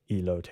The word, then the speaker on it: elote: that what it is I want to say a lot because it looks like a moat but I think it's elote is that right elope I don't know